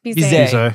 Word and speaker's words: Bizet: Is it pronounced Bizet or Bizet? Bizet.